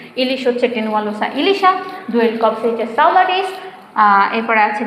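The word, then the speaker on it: Tenualosa ilisha: ইলিশ হচ্ছে টেনুয়ালোসা ইলিশা।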